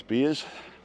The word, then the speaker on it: villa: pronounce Villa in Spanish a v is a b and a double L is a y sound beer so the plural